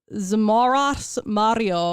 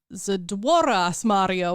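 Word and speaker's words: Zdrowaś Maria: have a child and the like godparent mispronounces a prayer, basically if they say Zmoras Mario instead of Zdworas Mario, which is basically like Ave Maria.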